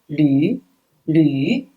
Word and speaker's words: 驴: Yes, this one with the eyes, it's yu, right? With the second tone, yu, yu. So it's le yu, lu, le yu, lu, lu, donkey, lu, donkey.